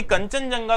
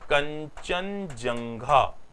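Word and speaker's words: Kangchenjunga: कंचनजंगा। तो भारत की दूसरी सबसे ऊंची चोटी जो मानी जाएगी, ये कौन सी मानी जाएगी? कंचनजंगा।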